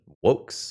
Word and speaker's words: Vox: So, Tyrannitar Vox or maybe Tyranitar Wokes if we're using Latin pronunciation because trivia of the day. Wokes is the Latin word that means voice.